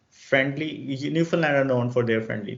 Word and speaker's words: Newfoundland: हाँ, तो एक प्रोनाउंसिएशन लोग इसको न्यू फाउंडलैंड कहते हैं, न्यूफनलैंड है।